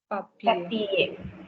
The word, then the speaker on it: papier: Papier. No. Papier. Papier. Break it down. Pa. Okay, and then second syllable is pied.